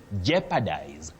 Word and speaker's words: jeopardize: You say jeopardize. To jeopardize, not to jeopardize. Jeopardize, common but wrong.